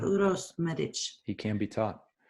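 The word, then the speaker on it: Uroš: So how do you pronounce his name? Uros Medic? Uros Euros. Euros? Euros. You're like Euros. No, No. Uros. Ur. Yes. Uros? Oh, then there you had the R too. Uros. Yes. Ah. Yes.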